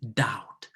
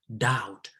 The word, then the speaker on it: doubt: doubt please we say doubt doubt not doubt the b is not pronounced please you see doubt